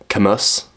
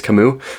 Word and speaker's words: Camus: Okay, Camus, if you are like to pronounce things literally. But I think it's Camus. Born 1913, I believe.